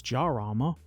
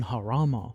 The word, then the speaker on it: Jarama: Major General Bunk's entry depicts Tommy James, Lion of Harama, which I initially wanted to pronounce as Jarama, because that's how it's spelt, but the description included the pronunciation Harama, which I'm probably still saying wrong.